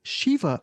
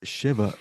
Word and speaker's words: Shiva: I said it was Shiva Baby, but it's Shiva Baby.